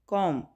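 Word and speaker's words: comb: कॉम, यानी बी जो है वो साइलेंट लेटर है, ठीक है, प्रोनाउंस नहीं करेंगे, कॉम, कंघी, ठीक है।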